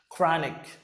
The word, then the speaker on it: chronic: Chronic. The CH sounds like k.